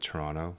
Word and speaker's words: Toronto: Notice I said Toronto because Torontonians will call Toronto as opposed to Toronto and pronouncing all the syllables.